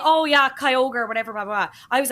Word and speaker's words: Kyogre: to this and you were saying oh yeah Kyogre whatever blah blah I was like oh my God that's so embarrassing that they're pronouncing it wrong it's kyogi I fully Mandela Mandela fected myself and was